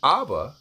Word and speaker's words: Abba: But you pronounce it Abba when we see it in the New Testament. So that proves that the Aleph is not silent.